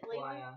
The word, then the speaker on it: Laya: I'll throw 3 daggers at Lila. How is it? What's it? Laya. Laya. Again, everyone doesn't know how to pronounce my character's name, and now I'm just saying everything other than that.